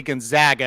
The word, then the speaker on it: Gonzaga: hot hand I think I always say it wrong and then I always think about John White it's actually Gonzaga and I think I